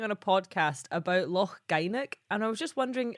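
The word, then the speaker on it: Gynack: I was just wondering, is that how you pronounce it, or is there a different way to say it? No, that's about right. Yeah, that sounds right. Nice. Yeah. So Loch Gynoch or Gynoch Road would be about good.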